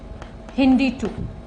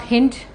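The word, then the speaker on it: HindII: Nathan's discovered first restriction enzyme and this involves Hindi - this is how it is pronounced not hint ok Hindi - where the sources you see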